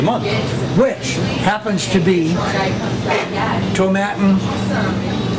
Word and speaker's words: Tomatin: Which happens to be Tomatin, rhymes with satin, 12-year-old Highland single malt Scotch whiskey.